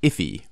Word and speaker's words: IIFE: look at the eye IFE often pronounced iffy or immediately invoked function